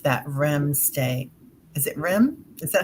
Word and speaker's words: REM: Is it REM? Is that how you pronounce it?